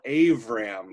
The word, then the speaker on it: Abram: So when we talk about Abram, who's about to be renamed Abraham, he is often called Avram also, because that B can be switched to a V, and it just depends